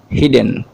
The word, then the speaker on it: hidden: ওকে, কিছু শিক্ষার্থী আছে হয়তো এই শব্দকে এই সাই ডাবল ডি এন কে উচ্চারণ করতে পারে হাইডেন হিসেবে। নো, it's incorrect. The standard pronunciation of this word will be হিডেন and not behind, it will be behind.